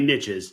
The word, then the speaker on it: niches: said it this way: the riches are in the niches. So, it's got to be niches, so it rhymes. Yeah, it must be. Maybe niche is the British way of saying it.